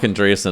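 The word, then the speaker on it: Andreessen: how do you say his last name on andreasen is that it Andrea said that's it Mark andreasen I don't know why I blanked on that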